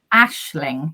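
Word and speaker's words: Aisling: probably say it wrong is it as as Ashling Ashling It's s like ash if you're my daughter's my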